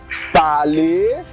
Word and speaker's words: parler: Words ending with ER, they are pronounced as A. A, like parler, jouer, danser, habiter, they are pronounced as A.